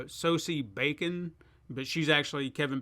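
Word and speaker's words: Sosie: pronounce her first name I think it's like soci s-o-s-i-e uh soci bacon but she's actually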